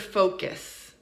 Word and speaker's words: focus: So let's look at the word focus. Focus. Obviously, the first syllable is stressed, right? Focus. focus. And the second syllable is not stressed. And so it sounds like focus.